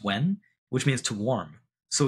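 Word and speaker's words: 溫: The other character, yun, is the character for qi, and inside of it has a character called, pronounced wen, which means to warm.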